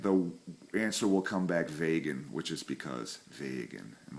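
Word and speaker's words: wegen: to use and the answer will come back vagan which is because vagan and remember it's pronounced like that vagan it's because all right h how this is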